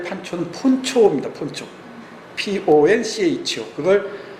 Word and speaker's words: poncho: Poncho. 그걸 이 망토 있죠, 망토. 그 원주민들이 입는 그 망토를 폰초인데 그걸 판초라고 이렇게 발음이 전화됐다 그래요.